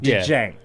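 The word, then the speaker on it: Cenk: well kind of a DJ okay together sound Jank Jank got you know J anyway I'm not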